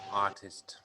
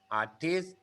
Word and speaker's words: artist: artist artist that's yeah artists okay same as last week like same as all like uh high people like to stress the second syllable artist but in english we stress the first syllable artist architect doctor engineer engineer